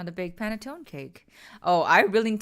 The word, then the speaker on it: panettone: So E's are pronounced like A's. Panettone. Well, I guess it ain't no paintone or paintone.